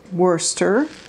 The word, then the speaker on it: Worcester: at it it's stamped royal Wurster or royal Worcester as it's sort of pronounced made in England and